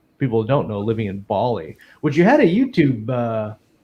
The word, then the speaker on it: Bali: The Australians call it Bali, but we're calling it Bali. The Balinese call it Bali, so I call it Bali.